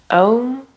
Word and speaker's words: Om: Om is the sound of the universe. Often we think it's written O and M, but actually it's written A-U-M, which makes three different